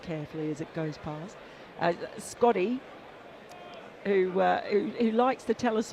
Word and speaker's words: Scotty: Scotty, who likes to tell us all that his name rhymes with Hottie, did this morning anyway, which I thought was outrageous.